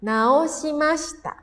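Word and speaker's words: 直した: Kalau ketemunya sama hiragana dibacanya nao naoasta jitensyao naoasta memperbaiki mungkin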